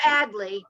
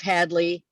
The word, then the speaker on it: Hadley: because average badly honey hadley or adley where we use the age okay sometimes people call it rage there it's the h and uh you know we call it the republic of hadley because it's not completely